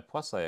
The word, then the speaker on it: Poiseuille: I have to take my plus a equation here that's how you say it by the way um